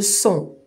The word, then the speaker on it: son: Si je mets une consonne avec le son on, je vais lire la syllabe fond.